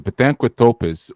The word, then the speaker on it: Pithecanthropus: So who falls in that anthropos category would be like your Pithecanthropus. That's how you say it. The Pithecanthropus was considered to be the ape man.